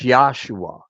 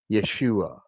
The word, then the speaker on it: Yeshua: So if you Google the name Yeshua, it's Yahshua. It's not Yeshua.